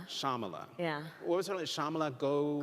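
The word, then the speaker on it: Shyamala: of your mother shamala so the Y is silent shamala shamala yeah what was shamala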